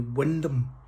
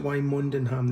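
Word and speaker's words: Wymondham: they don't pronounce it Y Mondham. They pronounce it Wendon, which is wrong, and they shouldn't do that cuz they're just ignoring letters in their name, and that's not allowed.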